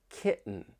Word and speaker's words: kitten: And with the American accent, when you have the T followed by an N, that T may get changed to a glottle T.